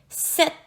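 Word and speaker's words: sept: Le mot 7 est particulier car il y a un P muet dans le mot. Donc, c'est important de prononcer le mot comme ceci. 7.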